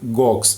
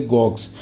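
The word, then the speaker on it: gauche: box na vida né se escreve desta forma mas se lê gox certo é uma expressão francesa é a é uma expressão que vem do francês da palavra se escreve como quase guache mas você lê box de origem francesa correspondente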